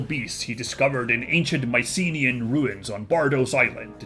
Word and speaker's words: Mycenae: Yes, there is a real-life Mycenae, whatever that is, which is in Greece.